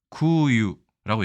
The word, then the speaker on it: 空輸: 구유라고 얘기합니다. 숫자를 슈로 발음하지 않고 유라고 발음하는 게 좀 특이하죠.